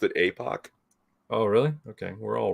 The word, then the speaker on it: Epoch Times: They call themselves Epic Times, but I always thought it was Epoch. But And I always pronounced it APOC.